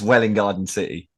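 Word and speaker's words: Welwyn Garden City: It's Welling Garden City and Letchworth Garden City.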